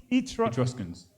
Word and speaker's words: Etruscans: Give me Etruscans. Etruscans, right? Pronouncing it right? Etruscans. Yep. Yeah, Etruscans. They existed.